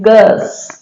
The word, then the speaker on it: curse: उसी तरह से है CURSE, इसको कहते हैं कस, कस।